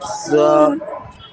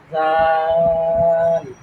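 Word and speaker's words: ذ: হ্যাঁ জাল বলেন জাল জাল না নরম হবে আরো নরম হবে জাল জাল জাল জীবের আগা দাঁতের আগা জীবের আগা দাঁতের আগা জাল জাল জীবের আগাটা এই যে আগা দাঁতের আগা লাগান লাগান লাগানো লাগবে না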